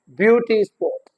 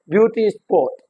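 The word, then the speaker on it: beauty spot: compound noun कहते हैं तो जो फर्स्ट वर्ड होगा वो क्या होगा स्ट्रेस होगा ब्यूटी स्पोर्ट ब्यूटी स्पोर्ट okay like wise book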